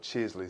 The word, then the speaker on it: Chisley: What is the origin of Chisley seasoning? And I'm pronouncing it correctly, right?